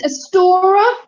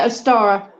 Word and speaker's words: Ostara: I can never pronounce this. Astora is the spring. Yeah. Astara, that's it, for the fertility, pagan fertility goddess. Anglo-Saxon goddess, yes. It's Ostara, isn't it? That's it, Ostara.